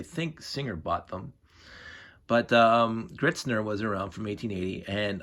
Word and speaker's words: Gritzner: i'm going to say gritzner that's the english way of pronunciation i'm sure there's a